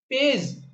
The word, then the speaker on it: page: Fourth word है हमारे पास पेज, PAGE। इसमें भी लास्ट में ई है और इससे पहले कॉन्सोनेंट है। तो इसमें ए का प्रोनाउंसिएशन जो है वो लॉन्ग ए हो रहा है।